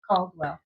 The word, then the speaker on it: Caldwell: Calwell.